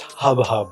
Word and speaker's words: Jub Jub: actually pronounced hub hub. It's Oh. Spanish.